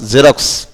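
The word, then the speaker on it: Xerox: হ্যাঁ আবার এক্সটা দেখো তার নিজের এক্স এর উচ্চারণ না করে জয়ের মতো উচ্চারণ হয়েছে এখানে, যেমন XEJ, হ্যাঁ এখানে এক্সটা কি হয়েছে জে হয়েছে, এখানে আর এক্স হয় নাই, এখানে এক্সটি হয়ে গেছে কি জে, হ্যাঁ XEJROX রক্স, জেরক্স।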